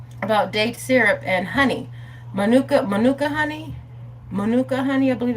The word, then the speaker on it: Manuka: And so one thing I learned about date syrup and honey, Manuka honey, I believe it's pronounced.